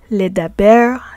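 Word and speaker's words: לדבר: So for the pl, hif'il, hitpa'el, and nif'al types of verbs, the prefix lamed is pronounced as le. Ledaber, that means to speak.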